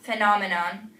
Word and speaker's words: phenomenon: patient impatient PA important you only need to be careful with words such as physics physician um physiology phobia phenomenon these words are uh heard as F but you're not going to write down the letter F you're going to write down pH these are all Greek words